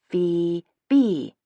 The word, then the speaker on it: Phoebe: Phoebe. I sounded out slowly as though I'm speaking to a child. Two syllables. Rhymes with itself. Super easy to say.